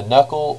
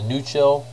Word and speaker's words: nuchal: It's either the knuckle or the nuchal, N-U-C-H-A-L, scute.